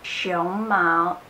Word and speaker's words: 胸毛: are going to learn how to differentiate the sound of show mouth and show Mao I know it can be quite difficult sometimes if you pronounce the words Romi in Chinese so make sure you pronounce this correctly show mal it's panda show mouth its chest hair so they're very very